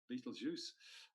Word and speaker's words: Betelgeuse: constellation of Orion it is methyl Jews or Betelgeuse depending on how you say it 700 light-years